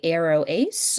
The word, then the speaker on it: aroace: And if someone is both asexual and aromantic, they may go by arrow ace, which is just those 2 words put together. And image description, I've put up 2 versions of the arrow ace flag on this slide.